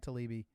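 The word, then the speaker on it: Taibbi: read hate inc yeah matt talibi i think that's how you pronounce his last name yeah he throw he's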